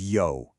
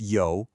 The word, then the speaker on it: 有: Okay, so this character right here is yo. It's pronounced yo. Give that third tone a try.